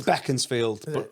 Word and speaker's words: Beaconsfield: Is it Beaconsfield or Beaconsfield? It's Beaconsfield, but I used to live on Beaconsfield Street, which is spelled the same.